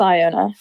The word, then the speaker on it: Iona: which is actually okay we're gonna settle this debate Iona or Iona it's Iona it's Iona okay well I